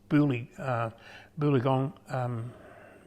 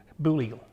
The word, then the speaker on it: Booligal: And he had gone down to One Tree Plain and the One Tree Hotel, which is halfway between Boolagong and Hay. Booligal, my mispronunciation.